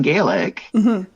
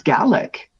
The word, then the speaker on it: Gaelic: But that's even things like that is like you realize like we keep saying Gaelic. It's not how it's pronounced. It's Gaelic.